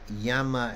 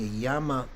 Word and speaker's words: Yama: which is which okay Yama as a heaven world has a long a y long A M A Yama Yama as the Lord of death is short a uh but there may